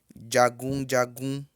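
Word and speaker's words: jagunjagun: J, como eu disse, tem som de DJ. Então, a palavra soldado se escreve jagum, jagum, mas pronuncia-se jagum, jagum.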